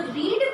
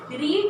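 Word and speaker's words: read: लेकिन जब हम लोग रीड पढ़ रहे हैं तो उसके साथ हम रीड को काउंट नहीं करेंगे। रीड, रेड, रेड, spelling same है लेकिन प्रोनाउंसिएशन क्या हो जाता है, अलग हो जाता है।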